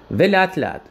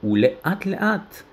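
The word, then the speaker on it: ולאט לאט: Велятлят. Или в правильном произношении улеатлят.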